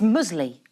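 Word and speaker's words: muesli: put top scientist now this word I'm about to say is contentious is it I say musly mule what Maron mle no it's musley musley musley you're the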